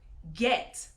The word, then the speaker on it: get: exceptions like for instance the word get it's GE T now that G is the site in E but it doesn't make the soft G sound that's why this is